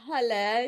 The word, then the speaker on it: Halle: This is Halle, your friend, pronounced like hallelujah.